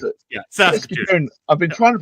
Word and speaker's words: Saskatoon: How do I pronounce it? Yeah, Saskatoon.